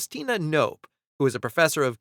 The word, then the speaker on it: Knopf: The original German, because Knopf means button, does angrily spit out every single letter for Knopf.